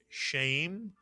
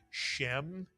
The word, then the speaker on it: shem: And we also taught you the word shem, which is pronounced very often as sham, which means name.